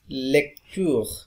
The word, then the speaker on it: lecture: It's a rule of syllable. I told you earlier that when the O is in between of a syllable, a single syllable, right? In that case, O is A sound, okay? Lecture.